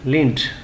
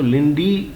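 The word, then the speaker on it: Linde: Fourth character हमारे पास है Christian लिंड. आप इसको लिंडी भी पढ़ सकते हैं, लेकिन सही प्रोनाउंसिएशन इसको लिंड है.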